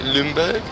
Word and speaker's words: Nürnberg: Did I pronounce it okay? Nürnberg?